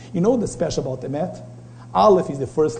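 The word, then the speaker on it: אמת: Emet. You know what's amazing about Emet? It's the same Maharal, the great sage in Kabbalistic in the 17th century says. You know what's special about Emet?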